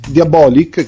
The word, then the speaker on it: Diabolik: accadde es per diabolic diabolic che si legge così con con l'accento sulla o nacque il primo novembre